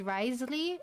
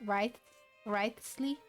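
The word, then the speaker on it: Wriothesley: Riotsley. I'll sign off on the interrogation request. Don't you worry. Wait, don't you pronounce his name as Risley and not Wriley?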